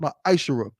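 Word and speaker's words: מעשר: Means 10th in Hebrew, and is pronounced Ma'ashara.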